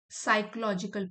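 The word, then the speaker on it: psychological: साइकोलॉजिकल, P silent है इसमें, मनोवैज्ञानिक।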